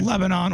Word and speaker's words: Lebanon: Lebanon, Oregon. That's how you say it.